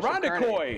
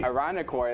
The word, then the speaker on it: Irondequoit: Lady Rebels go to sectionals in someplace in New York that I don't know how to pronounce. How about Irondequoit? Irondequoit.